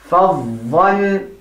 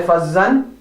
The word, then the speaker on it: فظا: فظا. Do not say فظا, but فظا.